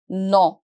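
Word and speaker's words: non: we say no but in French it's again a nasal sound we say no no no n o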